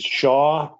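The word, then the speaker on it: Xia: Um his name is Shaw, which is spelled X I A like the Chinese spelling of Shaw.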